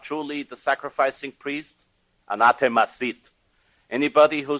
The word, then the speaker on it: anathema: Some Americans pronounce it anathema, but it's slightly off. It's anathema.